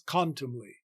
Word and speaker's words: contumely: the with oppressors and to make contumely in fact three syllables with the main stress on the first syllable and another lesser stress on the last so the line correctly reads the pressers wrong and proud man's quantumly technically here the ly syllable at the very end takes not a full stress but a secondary stress in the next session